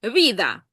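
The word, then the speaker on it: vida: А от зараз будуть ті, в яких вона стомлюється і робиться така, як д чуть-чуть. Ві від Відда. Да. Віда. Ось так воно звучить іспанською.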